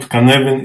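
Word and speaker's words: Cynefin: come to you that this is an unusual pronunciation of this word word but so the word canavan is a Welsh word and it means a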